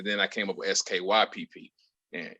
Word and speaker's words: Skypp: And it gets mispronounced a lot, which I don't know how, but it does. And it's okay. Skype pronounced that way? No, I got an E at the end of Skype.